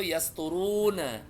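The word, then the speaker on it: يسطرون: Tulisannya itu yasturuna. Dibacanya yas yasturun.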